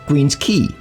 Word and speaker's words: Queen's Quay: This area along Toronto's waterfront, although spelled Q-U-A-Y, is pronounced Queen's Quay.